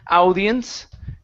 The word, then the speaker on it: audience: here instead of saying audience okay when you have an au together like this in some cases we only pronounce it like an A so instead of Audi it's a audience audience ah perfect aans